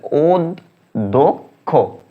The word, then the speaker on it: অধ্যক্ষ: উচ্চারণ এটা থাকে যেমন অধ্যক্ষ অধ্যক্ষ এটাকে শুদ্ধ উচ্চারণ করো শুদ্ধভাবে লিখো অদক্ষ এভাবে আর কি হ্যা শুদ্ধ উচ্চারণগুলো তোমরা সাজেশন বা নোট বই নোট বইগুলো থেকে দেখে নিবা অনেকগুলো।